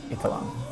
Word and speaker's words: Eitharong: I'm Eitharong, or Eitharong, depending on how you want to pronounce it. So growing up, it was always Eitharong, but really it's Eitharong.